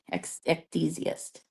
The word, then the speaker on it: ecdysiast: Like it is like Zeist at the end. It's ECD, ecdysiast.